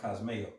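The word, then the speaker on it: κοσμέω: when you go to that word trim, there's certain scriptures where that word in the Greek is pronounced cosmeo. Yes. You know, where you get like cosmetics from and everything.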